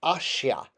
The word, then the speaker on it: ashya: And this is pronounced ashya, knowing that the S with the little V over it is sh, like a librarian would say. So ashya, we start drawing the